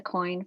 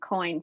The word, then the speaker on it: Coyne: Lisa Coyne, her name is spelled a little bit differently than what they might Yes, think. that's a good point. So it's Lisa and Coyne, Coyne.